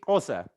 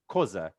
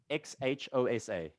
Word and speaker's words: Xhosa: you were just speaking is it corsa is the way it's pronounced but it's koza xhosa ec closer it's one of the 11 official languages in south africa we have 11.